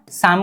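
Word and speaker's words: 삼: 10 plus कितना 2, 3 को बोलेंगे क्या सम बोलेंगे, 10 को क्या बोलेंगे सिप, 2 को बोलेंगे ए, उच्चारण सम, ठीक है सी।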